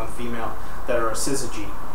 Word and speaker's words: syzygy: female that are a syzygy which is another one of these delightful gnostic words that we get to use scissor g it's spelled with z's and y's chromosomes nope no there's